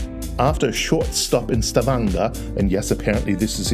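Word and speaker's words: Stavanger: After a short stop in Stavanga, and yes, apparently this is indeed how you pronounce it, the ferry glides deeper into the labyrinth of scaries and fjords.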